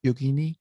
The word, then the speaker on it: yogini: Anders is a licensed clinical psychologist, author, speaker, and yogini. She currently lives in Las Vegas, Nevada. Did I pronounce that right? Yogini.